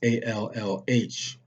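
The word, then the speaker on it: الله: have perverted that name all which that's how you would pronounce a-l-l-h just like the english word all with the h on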